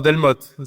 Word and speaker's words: Delmotte: No, Delmotte, still. Delmotte. Yes, French, of course. I should French have. way. The French way. Don't pronounce the last letter of the word. If in doubt, just do that.